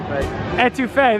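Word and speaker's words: étouffée: Etouffee, there we go. Someone nice enough on the line was able to tell me etouffee is how you pronounce it.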